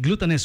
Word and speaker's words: Glutaness: I putting it right glutinous wellness it rhymes glutinous wellness Uh located